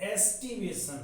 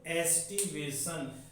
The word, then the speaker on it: aestivation: इसमें ए साइलेंट है, ए आगे लगा दो, एस्टिवेशन हो गया। क्या हो गया ये? एस्टिवेशन।